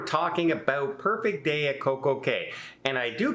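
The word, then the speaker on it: CocoCay: So for now, it's Perfect Day at Coco Cay, mostly because it rhymes, right? It rhymes, it's easier.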